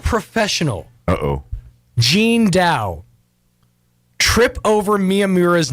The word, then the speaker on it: Miyamura: pronunciations of it, but I checked online. Miyamura is the correct pronunciation.